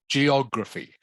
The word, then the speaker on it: geography: me please geography geography geography so the emphasis the stress is on the o sound geography geography okay why